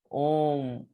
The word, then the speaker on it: ohm: So ohms में H is silent over here. तो इसको pronounce कैसे करते हैं? ओम, ओम नमः शिवाय, ऐसा आप याद कर सकते हो इसको.